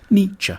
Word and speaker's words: Nietzsche: The first bit should sound like knee, the second like cha. Nietzsche.